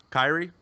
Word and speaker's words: Kairi: it at ComicCon though Kyrie did I say it wrong not no you said it right I have not played